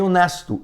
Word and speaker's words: honest: O H ele não é pronunciado, então o som vai ficar de vogal e você vai colocar o an na frente.